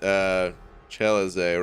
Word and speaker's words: Celeste: It's actually pronounced Cheleze, right? But I always just pronounce it Celeste.